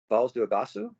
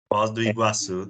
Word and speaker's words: Foz do Iguaçu: The only other place I've been was Falls do Iguaçu. Is that how you pronounce it? Falls do Iguaçu? Foz do Iguaçu, that's right.